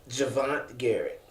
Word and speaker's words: Javonntte Garrett: Javonntte Garrett. Javonntte Garrett. Javonntte Okay. Garrett. The way it's spelled, I'm sure you struggled in school to get out of kindergarten to spell that, huh?